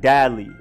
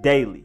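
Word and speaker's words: Daley: way and it's also not like a baby saying Dada like dad Lee it is daily Dennis daily next we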